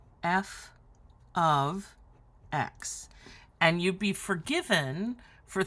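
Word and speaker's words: f(x): heck is this well this is not multiplication this right here is pronounced f of x and you'd be forgiven for thinking this was F times x and also for asking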